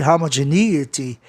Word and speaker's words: homogeneity: A sílaba tônica fica no E de NE, homogeneity e não eite, apesar de que também é possível você pronunciar homogeneity, mas a maioria dos americanos pronunciam homogeneity.